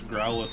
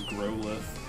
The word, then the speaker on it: Growlithe: Somebody used to pronounce Growlithe as Growlithe. Okay, that was not me. And I was like, really? And they're like, yeah, it's got Grow in the name.